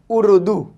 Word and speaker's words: اردو: से यूज करते हैं, अलिफ रे पेश उर, उर, उर, ऊ से शुरू हो रही है, दाल वाव पेश दू, उर्दू, उर्दू।